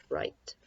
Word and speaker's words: write: the beginning the W when you have a WR blend you don't hear the W so I guess it's technically not a blend you just hear the R sound so here the are